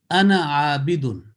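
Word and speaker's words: أنا عابد: When you pronounce together as a combining in a recitation, it will be ana abidun. Ana abidun. Alif is written, but it is not pronounced.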